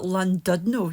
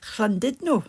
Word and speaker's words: Llandudno: I used to call it Llandudno, you know, the place where where it was Llandudno. It turns out it's actually Llandudno.